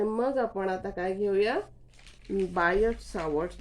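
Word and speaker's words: Biot: आणि मग आपण आता काय घेऊया, बायोट सावर्ट लॉ. आता हा जो बायोट सावर्ट लॉ आहे तो उच्चार त्याचा बायोट, एका वेळी बायो सावर्ट लॉ असं करतात, किंवा बायोट सावर्ट लॉ असं करतात, किंवा बियॉट करतात.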